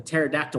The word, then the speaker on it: pterodactyl: can't tell if a pterodactyl went to the bathroom it's because the p is silent huh you get it